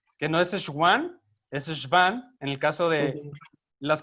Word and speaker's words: Schwann: Acuérdense de Schwann, que no es Schwann, es Schwann, en el caso de las que producen las vainas de mielina en el sistema nervioso periférico.